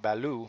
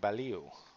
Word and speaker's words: Baliu: I mispronounced Baliu. I thought it was Kwentong Balu, but I guess it's Kwentong Baliu.